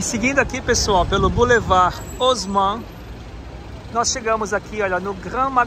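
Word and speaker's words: Haussmann: como hausmann aqui é Osman o h não tem som de R E a com u em francês é o então é Boulevard os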